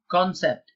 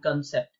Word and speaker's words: concept: seconds are up and the correct pronunciation is second option concept you can't be saying concept is concept by the way if you see this particular apostrophe here that shows the stress so you should say